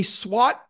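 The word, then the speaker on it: SWOT: on the page a SWAT analysis this is not the SWAT team it's spelled differently s w t but this means strengths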